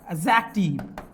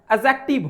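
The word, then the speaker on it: adjective: तीसरा है एडजेक्टिव। और कुछ लोग इसको पढ़ते हैं पता है क्या? एडजेक्टिव एडजेक्टिव नहीं होता है। डिसाइलेंट होता है। एडजेक्टिव होता है।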